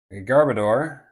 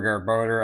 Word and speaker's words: Garbodor: It looks like um Garbodor or Garboder, I don't I don't know how to pronounce this Pokémon's name.